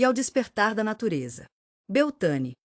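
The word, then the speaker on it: Beltane: Beltan pronunciado Belta, um festival de maio que significa o pico da primavera e a altura da fertilidade.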